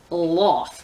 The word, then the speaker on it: Loth: Loth? Loth? You want me to have an emotional attachment to a character named Loth. Like Sloth, but with the S cut off.